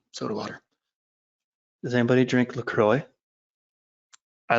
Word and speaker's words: LaCroix: one of those LaCroix I actually heard that it's produced in Minnesota and that's how they say it so I'm in the know even though it looks like a French thing LaCroix um so yeah that